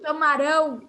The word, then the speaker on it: tomarão: E no futuro, tomarão é um som mais aberto, é um som maior, certo?